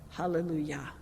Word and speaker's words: hallelujah: kolhanda shama to halal hallelujah so yah at the end of hallelujah that's a